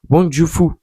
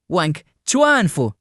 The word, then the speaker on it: Wang Chuanfu: Tout d'abord, ce qu'il faut savoir, c'est que BYD ça a été fondé par Wang Jufu. Excusez-moi la prononciation, voici comment ça se prononce en vrai. Wang Chuanfu.